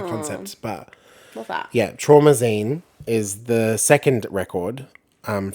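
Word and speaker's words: Traumazine: you say it yeah oh like limousine but trauma oh well like a like trauma magazine I guess is like the concept but what that yeah trauma Zine is the second record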